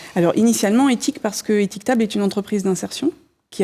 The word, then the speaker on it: Étiquetable: Louise Cerezo-Layani qui dirige Étiquetable. Alors éthique, E-T-H-I-C, ça s'écrit à l'anglaise. Table, ça se prononce à la française.